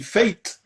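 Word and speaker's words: fete: F-E-T-E, fate. Sorry, fate. I'm trying not to say F-A-T-E. I think it's fate, isn't it? It's a fateman, but it's spelled F-E-T-E.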